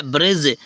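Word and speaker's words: bridge: बी आर आई डी G next क्या है ब्रिज ब्रिज में देखो ब्रिज डी साइलेंट हो गया डी के कहीं साउंड आ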